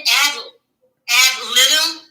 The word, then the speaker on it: ad litem: The guardian ad litem, what is that, Diva?